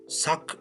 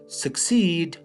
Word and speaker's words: succeed: این زیادتر مردم تلفظ میکنن suck نیست. okay? Succeed کامیاب شدن.